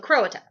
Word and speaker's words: Croata: The other are called the Croata. Because that's how I pronounce it.